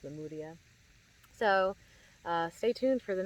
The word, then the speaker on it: Lemuria: to Lemuria, as I was told it's actually pronounced Lemuria.